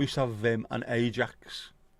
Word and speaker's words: Ajax: Yeah, we used to have Vim and Ajax. Never pronounced it as Ajax, it was always Ajax.